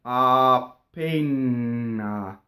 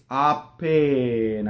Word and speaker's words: appena: double n ah pain see now that's wrong because there's a single n in this word what made that double n was my vocal chords were going mmm so that's double n so in this case a pain uh we want double P single n going on yo the word